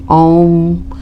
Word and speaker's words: ओम: ओम इस तरीके से हम उच्चारण करते हैं AUM ओम।